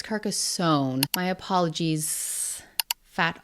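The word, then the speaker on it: Carcassonne: last video as well I guess I said it like car Zone with a zed yes I am Canadian but apparently is Kasson my apologies fat o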